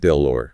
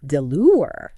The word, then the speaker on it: Delaware: Connecticut we have Delaware delure delure named after Lord de la War but pronounced with that American twist all right what else